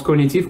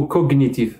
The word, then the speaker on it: cognitif: cognitive ça se prononce cognitif ou cognitif les deux prononciations sont justes et je pense qu'on